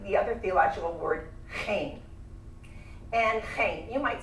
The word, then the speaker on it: chen: I also like the other theological word, chen. And chen, you might spell it C-H-E-N. Chen, that's why I sound like I'm clearing my throat all the time.